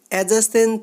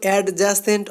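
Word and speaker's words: adjacent: অ্যাডজাসেন্ট টু এটার উচ্চারণ কিন্তু অ্যাডজাসেন্ট হবে না, এটার উচ্চারণ হবে অ্যাডজাসেন্ট।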